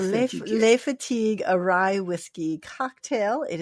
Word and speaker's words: Le Fatigue: Le Fatigue. Okay, it's Le Fatigue. Okay, people. Le Fatigue. It's called Le Fatigue, a rye whiskey cocktail.